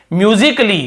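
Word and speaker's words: musically: तो यहाँ पे के का ही उच्चारण हो रहा है, यहाँ पे ए को नहीं पढ़।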